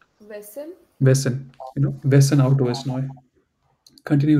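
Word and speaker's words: Wessen: It sounds like sen, but the beginning is different. Vessel. Wesen.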